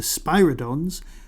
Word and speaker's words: Spyridon: What unusual physical property is shared by the Varjans, whom the first Doctor met, and the Spyridons encountered by the third Doctor? That's the Spyridons, pronounced Spyridon.